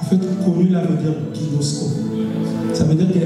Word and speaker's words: ginosko: La connaissance ginosko. Je vous ai dit que ça va être très, très technique. Ginosko, qui s'écrit G-I-N-O-S-K-O.